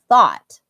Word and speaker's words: thought: that would be wonderful I'll still understand you but the correct way to say it is thought um I've talked about